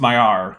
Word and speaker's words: Maillard: the amulet level, says, Maillard is pronounced Maillard. The D is silent.